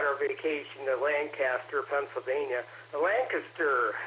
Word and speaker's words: Lancaster: Lancaster is it's pronounced.